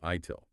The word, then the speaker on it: ITIL: A lot of these concepts come from frameworks like the IT infrastructure library or ITIL pronounced ITIL.